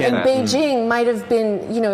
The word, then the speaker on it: Beijing: or something right and beijing might have been you know if you said beijing it would be said beijing you know you wouldn't say peaking or whatever yeah but when they